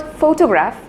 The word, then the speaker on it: photograph: that people often mispronounced when I say the word photograph the stress is given on the initial syllable for photograph but if I take